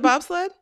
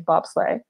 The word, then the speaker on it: bobsleigh: with everything else seriously so only americans call it bobsled i mean pretty much pretty much like i think other people have adopted it just because like they've heard americans saying it but in general the correct way to say is bobsley so you want to